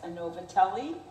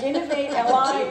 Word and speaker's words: Innovate LI: And it's been pronounced, telling you the truth, by our Italian friends as Innovatelli. It's not. I like that. Innovate LI is short for Innovate Long Island.